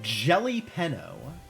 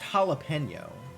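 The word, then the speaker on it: jalapeño: The jelly peno. What? It's pronounced jalapeno game.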